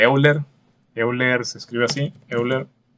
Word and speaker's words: Euler: Euler se escribe así, Euler, y se pronuncia así como se lee tal cual, Euler, y pues se representa con la letra E.